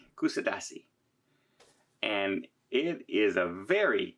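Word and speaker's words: Kuşadası: So as I sit here in front of my balcony window overlooking the beautiful port, I'm going to try and pronounce this right. It's Kusadasi. Kusadasi.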